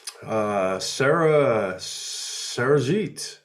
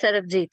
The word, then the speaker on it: Sarabjit: Sarahjeet. The B is silent, right? It's Sarabjit, yeah. Sarah, it's what? Sarabjit. Sarah, oh, the B is there.